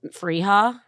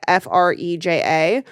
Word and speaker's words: Freja: It's Freja. That's how you say it. Freja.